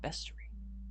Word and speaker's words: bestiary: apparently it's pronounced bestiary.